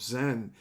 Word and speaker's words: Zen: Even the language of Zen is basically used from the Japanese pronunciation of the Chinese sound of Chen, and in Cantonese called Sim.